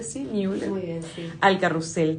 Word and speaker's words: Müller: Bienvenida, Judith Ozers Müller, ¿se pronuncia así? Müller.